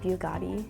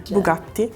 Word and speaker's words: Bugatti: surprised about the Italian Bugatti yeah it was kind of like a pause and then yeah is it the double te like two T's is two te Bugatti I knew it was